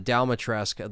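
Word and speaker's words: Dimitrescu: duke is there and the dalmatresk the way it's pronounced is because in this cutscene they do have a little conversation about you know oh your daughter and rose and you know they mentions you know all of dalmatresk and of course they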